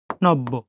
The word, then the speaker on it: নব্য: এখন বর সাথে জফলা যুক্ত হওয়ার কারণে বর উচ্চারণ কয়বার? 2 বার। নব্য।